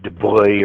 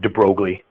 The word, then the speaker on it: de Broglie: I think you properly pronounce it de Broglie or something like that. But since we're in Petrolia, I pronounce it de Broglie. Since Dupuis are Dupies, then this guy's name is de Broglie.